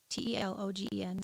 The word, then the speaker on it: telogen: i can't even it's enunciated it's called telogen t-e-l-o-g-e-n so telogen which is the bulb bottom of